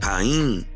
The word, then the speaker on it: Kohen: In Ge'ez, the word for priest is Kohen, pronounced Kain.